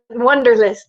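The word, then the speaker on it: Wunderlist: w n d r it's like the German Wonder wonderlist okay so wonderlist is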